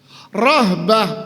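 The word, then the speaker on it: رهبة: Rahbah pakai hak. Makanya hati-hati bacanya ragbah sama rahbah.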